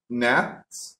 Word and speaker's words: gnat: The K is silent too. The word gnat, okay, the gnat is like an insect that looks like a mosquito, but it's not a mosquito, okay?